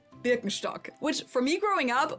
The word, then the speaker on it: Birkenstock: brand I'm talking about is Birkenstock or in German Birkenstock which for me growing